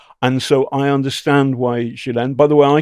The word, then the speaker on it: Ghislaine: And so I understand why Jillen, by the way, I call there's an argument about how to pronounce it. Jalen is the American trans pronunciation. We heard that it was Jillen, which I stick with.